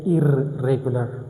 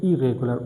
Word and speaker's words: irregular: But while pronouncing I do not pronounce both Rs. I only make sound of one of them. I don't say irregular. That's wrong. I say irregular.